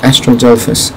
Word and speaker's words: Astrodelphis: astrodome astrodolphus in arc or astrodelphus in arc depending on how you say it i say delphus i say as a phonetically anyway see you later